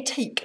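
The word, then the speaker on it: Ethique: So I definitely think, it's actually éthique, apparently you pronounce it, because it's from the French meaning ethical or something.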